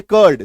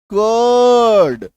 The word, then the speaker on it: cord: Next देखिए, जैसे मान लीजिए कर्ड, CORD, आर के बाद डी है, तो यहां पे आर का साउंड आपको करना नहीं है, तो आप क्या बोलेंगे, कर्ड, कर्ड, गलत, कर्ड सही।